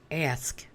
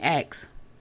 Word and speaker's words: ask: never paid attention to my pronunciation of the word ask right so I was saying X right and he said